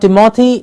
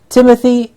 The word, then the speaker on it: Timothy: roses Timothy please remove not tamati it's Timur Timothy an English name for